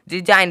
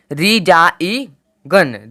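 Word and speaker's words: resign: आया है ना कि रिजा इ गन रिजाइन नहीं आया है रिजाइन आया ठीक है न मतलब त्याग पत यानी कि जी का उच्चारण नहीं हुआ है आरई आई जी एन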